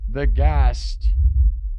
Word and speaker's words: De Geest: You say it like the Gast. It's Flemish, Belgium.